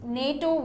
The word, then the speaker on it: NATO: this is different here we don't say n a t o but we say nato here it's different you